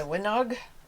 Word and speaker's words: Llanwenog: this is very soft the winog is how i could get as close a pronunciation of it i'm sure that's not how the walsh said but it is a welsh breed okay when i have